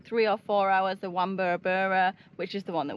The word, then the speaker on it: Wamburabura: or four hours the wur which is the one that we got that's definitely how you say it wur I'm pretty sure that's